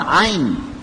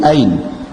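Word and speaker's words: عين: sebab seperti ya Ain kalau orang Quraisy membacanya Ain dipangkal tenggorokan Ain tapi Bani Tamim membacanya pakai Hamzah tahmizul Ain membaca Ain dengan hamzah Jadi Ain di ujung lidah Ain Hah Hamzah nah ini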